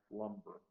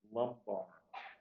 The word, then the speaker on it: lumbar: give you more information the word is lumbar lumbar somebody sometimes pronounce Lumber lumbar it's of relating to